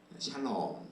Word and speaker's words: 샬롬: 샬롬이 뭐예요 이스라엘의 그 말이죠 인사 말이죠 평안 샬롬 한번 해보세요 샬롬 샬롬 근데 그분이 그 이분이 좀 이렇게 그 지방 분이라 그러지 발음이 좀 샬롬 이렇게 정확히 나오지 않고 샬롬